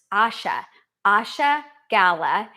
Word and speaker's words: Asha Gala: Okay, so I said her name wrong. It's Asha Gala, and she's a lifestyle clinical director at Ethos Farm.